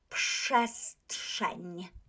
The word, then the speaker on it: przestrzeń: T is unvoiced, therefore R becomes, that is obviously a wrong spelling. You would not spell this word like this, but you would pronounce it like that. So przestrzeń, right?